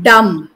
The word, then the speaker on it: dumb: it is it is dumb no B yes the B is silent yeah I was I